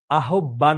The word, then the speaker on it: আহ্বান: বিদ্রোহ বিপ্লব ও মুক্তির আহ্বান জানিয়েছেন। বাংলাদেশের স্বাধীনতা যুদ্ধের সময় তার কবিতা মুক্তিকামী বাঙালির মনে বিশেষ শক্তি ও সাহস জোগিয়েছে। এটার উচ্চারণ আহবান নয়। আহবান নয়। আহবান। আহবান। আহবান।